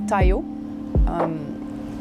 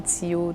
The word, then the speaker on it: Tyo: Tayo. Ça s'écrit T-Y-O. Puis à l'école, ben c'était Tio, Toyo. Fait que je me suis dit, quand j'ai commencé ma carrière, que ce serait Tayo.